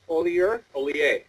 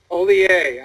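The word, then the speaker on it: Hollier: The H is silent. The IER makes an A sound.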